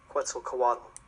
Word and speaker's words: Quetzalcoatl: Anyhow, once again, how we pronounce this? Quetzalcoatl.